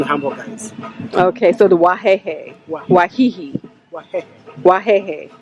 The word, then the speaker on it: Wahehe: Okay, so the wahehe. Wahihi. Wahehe. Wahehe. How you read is how to pronounce it.